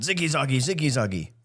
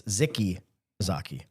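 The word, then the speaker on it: Zicke Zacke: I just remember the man show and the old guy always went zicky zagi, but apparently it's zicky zaki.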